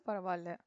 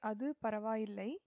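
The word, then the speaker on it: அது பரவாயில்லை: So the translation is Adu Paravalla. That's okay. Paravalla or Adu Paravalla. Formally, you should say Adu Paravaillai. Adu Paravaillai. But colloquially, we say Paravalla.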